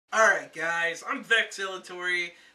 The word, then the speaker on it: VeXx: Alright guys, I'm VeXx the X is silent, and this is Nerd Militia.